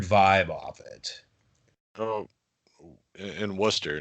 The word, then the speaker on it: Worcester: yeah i love it worcester is as the city that ignores most of the like a lot of the letters in its spelling for some reason yes it does absolutely it's spelled like warchester yeah that's pronounced worcester